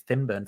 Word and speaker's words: Swinburne: And then he talks about, Swinburne's and it'll come to Thinburn for some reason, Swinburne's argument for God's existence, where it's an upper class pronunciation of Swinburne.